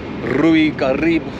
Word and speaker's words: Caribe: Hey guys, this hotel cost me, like, we literally stayed here for one night, and we're off to Hotel RIU Carib, proper correct Latino pronunciation.